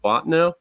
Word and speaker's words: Bottineau: So you end up attending Dakota College at Bottineau. Is that pronounced correctly?